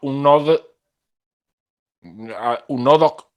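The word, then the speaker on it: UNODC: en base a la un nodok así se pronunciaría este organismo de las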